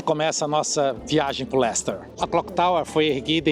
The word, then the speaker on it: Leicester: a você aprender sobre Lester é como se pronuncia se escreve lei sester Mas só fala Lester e aqui sobre a